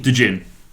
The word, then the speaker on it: Djinn: Djinn. Genie. Okay. Put my d20s down here. The D is silent.